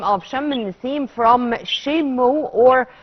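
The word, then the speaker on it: شم النسيم: Is it the fact that we took the name of Shem al-Nessim from Shemu, or how the old Egyptian pronounced or named the day?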